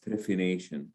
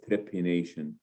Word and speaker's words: trephination: people have known is a procedure known as trephination sometimes pronounced as trepianation and what it is